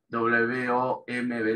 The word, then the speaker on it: womb: Se escribe así, W-O-M-B larga, womb, la B larga al final no se pronuncia, womb, una palabra derivada del germánico antiguo, del alemán antiguo.